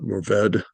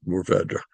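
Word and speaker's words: Mourvèdre: You do hear people pronounce it Mourvedre, but it is actually pronounced Mourvedre. You don't really exactly pronounce the RE at the end of the word, but you kind of pronounce the RE at the end of the word.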